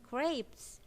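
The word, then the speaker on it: crêpes: Nah, dibacanya crepes. Ya, crepes. Jadi bukan crepes atau crepe. Grapes, jadi ada ei-nya gitu ya.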